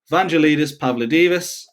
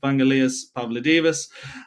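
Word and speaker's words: Vangelis Pavlidis: probably recognize the name Vanelitus Pavlo Divas. Um I've butchered that. It's Vanalas Pavlo Divas.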